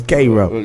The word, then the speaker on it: Cairo: the same spell no it became Koo when they went to the South that's a southern you heard heard it here you heard here on Street the southern pronunciation of Cairo is Koo yeah that's cro Georgia